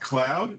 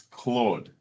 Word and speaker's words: Claude: It's not cloud, it's Claude. It'll get you in strife with somebody thinking you're talking about cloud.